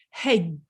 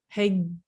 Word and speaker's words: hedge: Hedge, it's the same idea. Hedge, you don't actually hear that d, and you've also got that soft g, that j on the end, and we teach about soft c and soft g.